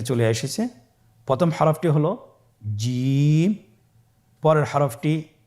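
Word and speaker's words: جيم: প্রথম হরফটি হল জিম। পরের হরফটি হা। পরের হরফটি খ। আপনারা আমার সাথে বলুন জিম। হা খ জিম হরফটি বারিক হরফ এটা উচ্চারণ করতে হবে তিন আলিফ টেনে দেখুন আমি কিভাবে উচ্চারণ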